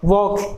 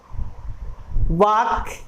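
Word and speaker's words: walk: अगला है वॉक, इसे हम वाक या वाल्क प्रोनाउंस नहीं करते हैं, इसे वॉक प्रोनाउंस किया जाता है।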